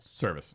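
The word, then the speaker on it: Servais: Service.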